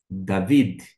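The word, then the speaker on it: דָּוִד: é um pontinho e Mesmo não tendo aqui sendo a mesma letra não tendo esse pontinho da GU o som vai permanecer o mesmo desta forma você vai ter justamente esta esta pronúncia David David o nome claro de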